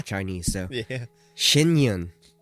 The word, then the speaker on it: Shen Yun: Shinyun is what it's called. I've been saying it wrong.